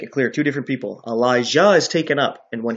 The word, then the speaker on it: Elijah: I pronounce it clearly so you know they're two different people, Elijah and Elisha. One with a J, one with an S.